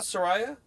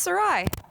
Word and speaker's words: Sarai: Sariah. It's just It's just Sarai.